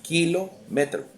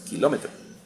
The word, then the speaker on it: kilómetro: la llevamos a longitud les decimos kilometro pronunciado correctamente es kilómetro y Qué es kilómetro